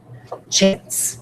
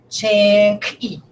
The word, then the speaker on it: chance: Do I say chink? Is that what I say? Chanky. Is that what I say? Chanky? Ooh, rhymes with jinky. No, that is not what I say, do I? This is silent, first of all. I'm going to put 2 lines under it because it's silent.